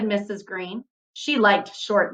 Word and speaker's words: Greene: green that's green with a silent e at the end discovered that they were